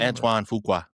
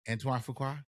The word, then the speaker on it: Antoine Fuqua: Antoine Fuqua. Antoine Fuqua.